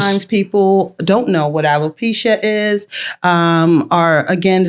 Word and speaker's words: alopecia: So this community of alopecia, that's how you say it?